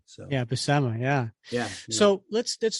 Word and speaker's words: Buscema: BMA brothers too because they all say bema bemma but it's not a hard C in that in that name so yeah BMA yeah yeah so let's